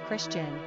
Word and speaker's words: Cristian: Pronunciation, Christian.